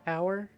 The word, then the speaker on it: hour: Hour and hour. Holy shit. Yeah. Hour. Yeah, the H is silent.